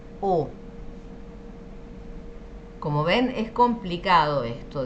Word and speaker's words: eau: También la EAU, que de hecho esto significa agua, se pronuncia como una O. La palabra agua en francés es O.